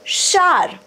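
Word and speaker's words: shower: bathroom and take a शावर ठीक आहे आता इकडे तुम्ही शार असं म्हणू शकता जरी स्पेलिंग असेल एस एच ओ डब्ल्यू इ आर शॉवर असं आपल्याला म्हणायची सवय आहे शॉवर केला का आपण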